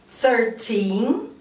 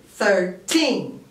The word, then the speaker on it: thirteen: So, we say 13, 13. But we say 30, 30. Okay? Here, the stress is on the second syllable.